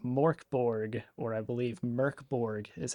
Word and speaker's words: Mörk Borg: Oh no, we are playing an indie RPG called MÖRK BORG, or I believe MÖRK BORG is how it is actually pronounced in It's called MÖRK BORG.